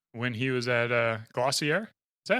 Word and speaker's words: Glossier: it how they want but the brand pronounce it glossier glossier like dossier okay I don't know